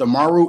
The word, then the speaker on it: Amaru: She found it, I believe it's pronounced Amaru Entertainment.